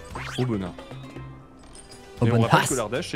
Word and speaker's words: Aubenas: Comment ça se prononce? Apparemment, le S se dit pas si. Ouais, Aubenas, c'est vrai qu'on dit Aubenas, c'est vrai. Aubenas.